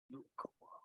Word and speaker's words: Yukuwa: The Yukuwa. Yik. Yukuwa. Yik. Perfect. Okay. Rhymes with Hikama.